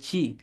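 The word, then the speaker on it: ち: তাহলে তা, প্রথম বর্ণটি হচ্ছে তা। তারপরে চি। এই বর্ণ কিন্তু তি হবে না, তি বলা যাবে না, বলতে হবে চি।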